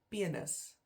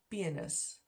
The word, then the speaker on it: penis: and then penis um penis is spelled exactly the same again but pronounced differently so it's pronounced in Afrikaans pianist pianist ah I never really